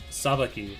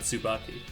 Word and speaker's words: Sabaki: I'll I'll make sure that uh the guy that the guys on the mic are sure to pronounce it Sabaki, not Sububaki.